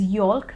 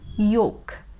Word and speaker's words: yolk: is yolk yolk now a lot of people also pronounce this l sound over here so they pronounce it as yolk which is a wrong pronunciation this l is always silent and that is why we don't pronounce it so it is yolk yolk in a sentence the